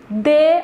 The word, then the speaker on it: dê: ele é um verbo monossílabo tônico e olha pronúncia de uma chance a ele dê uma chance a ele o verbo da se